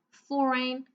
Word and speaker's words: foreign: And for our last line, whole, light, foreign, talk. So I'll just give you a few more seconds to tell me which letter is silent in each of the words, okay?